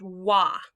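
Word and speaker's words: は: you already know that ha under certain circumstances can be pronounced wah wah is the old-fashioned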